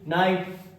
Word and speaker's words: knight: Logic क्या है कि के बाद अगर एन आए तो के साइलेंट होगा मेरे भाई, रटना बिल्कुल भी नहीं है। KNIGHT नाइट, नाइट मतलब योद्धा होता है जानते हैं।